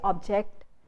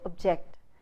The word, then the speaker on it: object: So object becomes object. Do you see what happens to the syllable ob, when you don't put stress? When you don't put stress on the syllable ob, the first syllable, the or turns into a, sure. So you don't, when you put the stress on the second syllable, you don't say object, you say object.